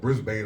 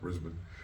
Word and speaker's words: Brisbane: It came to the locker room and said, "There's some guys out in the hallway from a place called Brisbane, Australia." It's actually pronounced Brisbane.